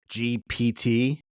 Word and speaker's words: GPT: I've been pronouncing Chat GPT as a B this whole time. That's a problem. Yeah, it's wrong.